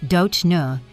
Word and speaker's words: Dona: The first name pronounced Do Nu is exotic enough to sell the image, but simple enough for American audiences to remember.